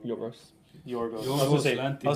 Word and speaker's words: Yorgos: Yorgos.